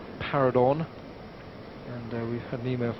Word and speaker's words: Paradorn: on this that we're going with the name para Don and we had an email from Gwyn in Bangkok who says it's correct to call para Don para Don to use the Christian name or the first